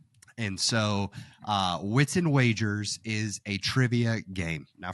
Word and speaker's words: Wagers: And so for me, number 8 is Wits and Wagers, or as Courtney called it, Wits and Waggers. And so Wits and Wagers is a trivia game.